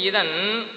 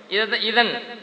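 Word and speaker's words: إذن: ஆனா உச்சரிப்பு எப்படி வரும் கேட்டா அலிஃபு தாலு நூனு இதன் அலிஃபு தாலு நூனு அதை தான் விளக்குறாங்க.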